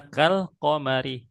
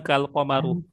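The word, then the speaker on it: كالقمرِ: Makanya qaramarnya dibacanya alqamari ya. Kalqamari bukan kalqamaru. Iya.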